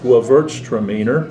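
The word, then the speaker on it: Gewürztraminer: never heard of that varietal but it's it's pronounced guavarts tremener it's a german uh wine and you can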